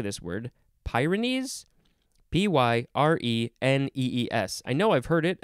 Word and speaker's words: Pyrenees: P-Y-R-E-N-E-E-S.